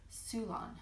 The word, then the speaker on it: Ceylon: I always have trouble with Ceylon because it is spelled at Ceylon, and it's pronounced Ceylon.